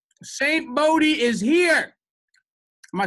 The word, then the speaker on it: Bodhi: I get called Saint Bodhi or Saint Booty. Like, I was talking to this London dude, he was like, hey, Saint Booty.